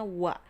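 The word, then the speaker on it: は: Partikel wa ini kalau ditulis menggunakan huruf hiragana dia akan menggunakan huruf H, tapi dibacanya wa.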